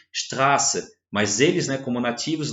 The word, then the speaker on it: Straße: Suíça, vai estar lá, não vai estar escrito Straße com o beta, com o SZ, vai estar escrito Straße com dois S, mas mesmo assim a pronúncia continua sendo Straße.